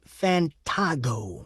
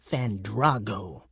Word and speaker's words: Fantago: You should say Fantago, not Fandrago.